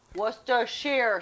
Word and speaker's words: Worcestershire: to add just a touch of Worcestershire sauce Worcestershire sauce is how it's pronounced and yes folks this is made from